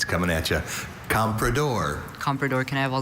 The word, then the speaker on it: comprador: Mandarin and English, the comprador enabled the British traders to get excellent terms on Chinese tea, silk, and porcelain. Okay, comprador. Repeat all the information again? Comprador is the only pronunciation of this noun.